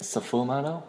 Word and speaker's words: sfumato: Very important technique they used is sfumato. Is that how you say it? Sfumato. Not safu, just fu. Sfumato.